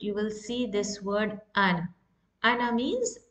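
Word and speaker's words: أنا: I will pronounce this alif. I will say ana.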